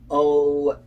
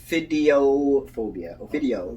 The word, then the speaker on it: ophidiophobia: Ophidiophobia. Ophidio. It sounds better than what I said. Yeah, ophidio. The PH is making enough sound, so oph.